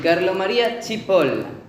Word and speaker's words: Carlo Maria Cipolla: Ollo, cuidado cosa moral, porque non se pronuncia como se escribe. Dice así, Carlo María Cipolla.